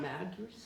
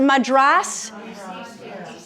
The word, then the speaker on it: Madras: Um madress. Yes. Madress. Yeah. And apparently it's pronounced Madras.